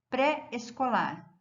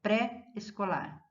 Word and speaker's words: pré-escolar: Tanto pós como pré como pró são fortes, eles são tônicos.